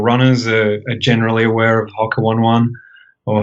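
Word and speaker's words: Hoka One One: We know that hardcore runners are generally aware of Hoka 1-1 or Hoka One if I use the correct Polynesian pronunciation, which I usually don't.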